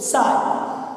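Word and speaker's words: psi: अगर दिखा उसको बोलते साय पी साइलेंट है तो उसका प्रोनाउंसिएशन साय ही करते हैं साय।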